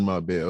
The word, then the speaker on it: Marbella: Oh, that's how you pronounce it. Jobs in Marbella.